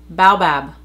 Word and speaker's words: baobab: This is one I can't pronounce. You know I'm gonna go on my phone right now and figure this out. Baobab.